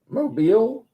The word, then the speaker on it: Mobile: Mobile.